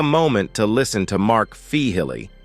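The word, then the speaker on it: Feehily: Take a moment to listen to Mark Fihilly, pronounced Fee Highly, not Fily.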